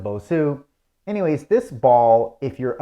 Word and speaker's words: Bosu: It's called a Bosu ball, Basu ball, however you want to pronounce it. Okay, I pronounce it Bosu.